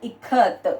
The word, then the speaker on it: ikat: So now see here, I as in it and ka as in Kamala, K-A-K.